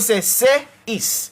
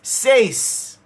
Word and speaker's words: says: But this word is not broken into any other thing. This is one syllable into itself. In the syllable, there is a diphthong. That is the diphthong. A. A. So this word is says.